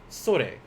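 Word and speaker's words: それ: kore this one sorte sore now don't be like my high school student it's like sensei what the sore mean i'll give you a sword cause you're saying it wrong so sorry uh this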